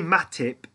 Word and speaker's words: Matip: But when I say it fast, because of my accent, it sounds like Matic, right? Which has been pointed out a couple of times to me about my mispronunciation of Joel Matic, because everyone thinks I'm saying Nemanja Matic, who plays for Manchester United.